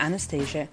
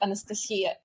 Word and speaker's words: Anastasia: In my native language, because originally I'm from Belarus, my name is pronounced Anastasia.